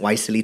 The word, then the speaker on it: YSEALI: problems pronouncing wisely I I thought it was WIS and then and I'm glad you say it's wisely but yeah you recently